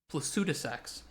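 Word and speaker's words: Placidusax: I love plad de6 placuta sax that's how they say it in the uh the DLC oh flashbang chat sorry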